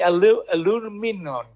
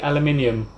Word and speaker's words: aluminium: It's the aluminum. How do you say that? In England we say aluminium.